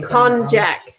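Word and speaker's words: konjac: believe it's pronounced cognac with a hard j not like cognac of the brandy con jack okay sorry i don't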